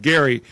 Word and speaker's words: Gerry: He gave his name, he didn't give the pronunciation. So we call Elbridge Gerry, but we call it gerrymandering.